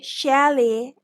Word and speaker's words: chalet: this is the pronunciation britishers say Shelley and American Sale Chalet Chalet means a